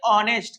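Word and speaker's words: honest: ऑनेस्ट एक ऐसा word है जिसमें एच साइलेंट होता है। कहते हैं ऑनेस्ट।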